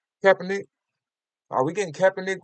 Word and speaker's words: Kaepernick: Are we getting Captain Nick? Is that how you pronounce his name? Kaepernick.